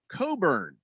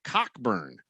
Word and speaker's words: Cockburn: colts van dan says the basketball player from illinois's name is pronounced coburn not cockburn well wait a second